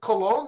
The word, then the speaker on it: Colon: All right, so people say, that's not Colon, that's colon. I said, no. It's spelled like the intestine, but sounds like the fragrance, cologne.